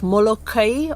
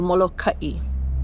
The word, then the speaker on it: Molokaʻi: The name of our island can be pronounced two ways, Molokaʻi or Molokaʻi. Molokai, no stops, means middle of the churning oceans. But the word kaʻi, kai with a little glottal stop in there, kaʻi means lead, to set the pace, to take charge.